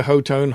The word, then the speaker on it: Hotone: Made by Hotone, Hot One, whichever one you want to pronounce it.